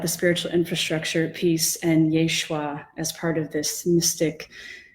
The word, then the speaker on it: Yeshua: thinking a lot about Yeshua yeah the Hebrew pronunciation of Jesus and how Yeshua seems